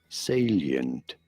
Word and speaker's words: salient: form an angle however pronouncing it though salient alien the first syllable the say syllable salient such a self-reference such